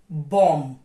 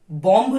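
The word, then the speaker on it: bomb: now silent letter B बम बॉम नहीं बोलना है बम थम नॉट थम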